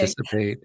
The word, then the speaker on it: anticipate: Anticipate, exhilarate. So emphasis on the second syllable.